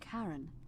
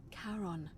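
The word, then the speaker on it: Charon: it's just as you described it only your pronunciation is a little off the name you heard wasn't karen it was c h a r o n as in caron the ferryman of the dead so we've been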